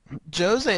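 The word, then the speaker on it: José: player um he's a Jose is actually how they pronounce it in Brazil stop messing with me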